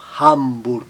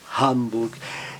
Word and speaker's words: Hamburg: cidade alemã, Frankfurt ou Hamburg, seguido de M e N, o A, mas ele mantém um som bem aberto, Frankfurt, Hamburg.